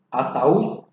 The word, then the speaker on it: ataúd: La palabra ataúd, bien, se carga la voz en la U, termina en consonante D, pero igual se debe tildar.